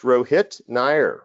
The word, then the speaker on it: Rohit Nair: forgive me uh Rohit is it pronounced Rohit Nair right correct yeah all right my friend